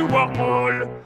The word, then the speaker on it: Warmall: Ça aurait plutôt tendance à se prononcer Wargloob et Warmall.